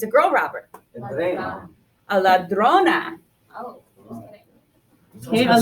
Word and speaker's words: ladrona: Now when we clap it out, ladrona, we have what? 3 syllables, and the accent naturally falls on the second to last syllable.